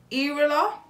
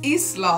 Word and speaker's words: Isla: name i r l a how do you pronounce that no idea erila irila my bad that's my stupid handwriting it's isla i s l a am i dumb i